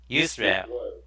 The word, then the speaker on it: Yisrael: Did I pronounce that right? or? With a Y? Yeah, say it again. Yisrael. That's how I would say it. Okay, it's kind of you, like Y-O-U, right? Yisrael.